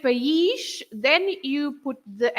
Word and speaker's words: país: So for country, you have 2 syllables. The word has got 2 syllables. You split into país, right?